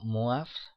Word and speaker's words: Moivre: Entonces, tenemos un modo sencillo de calcular potencias de números complejos gracias a la fórmula de, se pronunciaría como MUAF, pero fórmula de Moivre, que sería teorema, fórmula de MUAF, que nos dice, bueno,